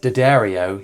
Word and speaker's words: D'Addario: And in my quest to have a puny pedal board for every gig this year, the wonderful people at Dibble, yes, that's how it's pronounced, have provided me with one of their new pedal boards for me to use.